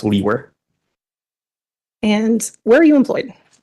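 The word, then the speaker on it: Liewer: e w r and it's pronounced leer and where are you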